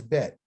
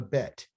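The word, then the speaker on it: בית: The next one is bet. That's the name of it. It's called a bet. Like, hey, let's make a bet.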